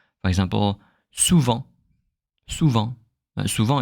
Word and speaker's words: souvent: The only moment you will pronounce the ENT when you read French will be when it's not a verb. It could be an adverb or a noun. For example, souvent.